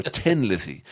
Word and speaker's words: Thin: us okay the character Tin Lizzy what I had a name change for a play on the Irish accent 10 days pronouncing as thin as in ten Phil leinert was a